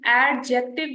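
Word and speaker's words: adjective: of speech लिखा ना इसकी प्रोनाउंसिएशन एडजेक्टिव नहीं है आपका जो डी है that is always silent here ठीक है इसको हम कहेंगे एडजेक्टिव ठीक है डी इज साइलेंट ठीक है इसके साथ-साथ देन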